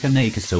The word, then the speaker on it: Cane Corso: Pronounced Cane Corso from Italian Canine Corso, also known as the